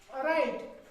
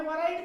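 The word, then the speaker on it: write: अब हम लिखते हैं राइट, WRIT, इसको हमने वराइट पढ़ना चाहिए था, लेकिन वराइट नहीं पढ़ते, हम राइट पढ़ते हैं। क्या पढ़ते हैं? राइट।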